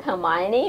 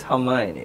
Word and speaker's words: Hermione: Yeah, and then even with Harry Potter, I think the same thing happened with Hermione, which is why J.K. Rowling did put the pronunciation inside the book, so you would know.